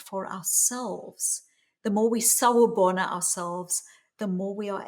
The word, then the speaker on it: sawubona: I think the more we can do that for ourselves, the more we sawubona ourselves, the more we are able to actually show up to other people. Mm, I love that. Sawabona.